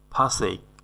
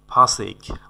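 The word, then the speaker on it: forsake: ফাসেক। ফাসেক মানে হলো ফসেক না কিন্তু, ফাসেক মানে হলো ত্যাগ করা।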